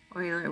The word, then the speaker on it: Euler: So named for Euler, which is spelled E-U-L-E-R.